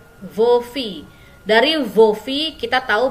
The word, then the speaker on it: filles: Jadi dibacanya ce sont vos filles, ya. Kalau fils anak laki-laki. Kalau anak perempuan ce sont vos filles, ya. Walaupun dia jamak, S-nya tidak dibaca, ya. Vos filles.